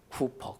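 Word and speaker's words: Cowper: 윌리엄 쿠퍼, 카우퍼라고 발음하기도 하는데, 네, 그는 위대한 시인이 되었고 주님을 찬양하는 찬양자가 되었고 전도자가 되었어요.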